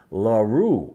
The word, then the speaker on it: LaRue: he did pretty good with the pronunciation of my name larue okay very cool the rue part makes sense to me um southern you know biloxi mississippi new orleans rue as in the cooking that makes sense to